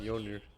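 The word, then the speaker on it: Mjölnir: What to say with Mjolnir? You don't pronounce the J.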